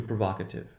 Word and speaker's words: provocative: So what happens in this case is, notice there is no shift in the position of accent. Provoke, provocative. That means it's that second syllable that will be stressed.